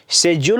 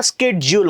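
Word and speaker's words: schedule: म्हणजे कसा प्रश्न विचारायला पाहिजे होता की सर शेजडल म्हणायचं का स्केडल म्हणायचं मग तो उच्चार बरोबर झाला असता आलं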